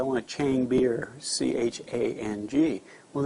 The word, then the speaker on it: Chang: You know, everybody comes over here and says, "I want a Chang beer," C-H-A-N-G. Well, they don't have that A sound. It's an Ah sound, Chang, and it's the word for elephant.